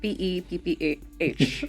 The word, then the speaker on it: Pepper: That's SHERRY _ pepper, like Peppa Pig, like PEPPAH. You have to say it like that.